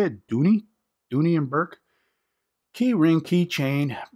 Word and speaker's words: Dooney: it is the proper way to say it Dooney Dooney and Bourke keyring keychain brown leather and